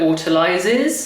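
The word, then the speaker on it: autolyse: While it autoilizes, you say it like that.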